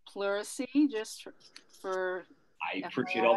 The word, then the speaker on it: pleurisy: It's pleurisy, just for I appreciate all that.